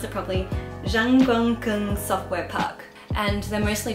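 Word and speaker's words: Zhongguancun: fuel and it's caught let me let me pronounce it properly Zhang bunkin software park and they're mostly do R&D so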